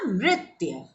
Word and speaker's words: नृत्य: इसका उच्चारण कैसे करेंगे, नृ और त और य। आपने त आधा ऐसे जोड़ा, ये बना नृत्य।